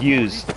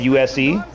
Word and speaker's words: Uzh: So my name is pronounced Use. It's like USE, but it's spelled UZH.